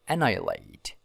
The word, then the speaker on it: annihilate: watching annihilate these word pronounced like an eyelid annihilate annihilate annihilate annihilate destroy